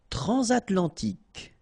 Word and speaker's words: transatlantique: Transatlantique. Okay, so at the end, tic. Remember, Q-U-E, K.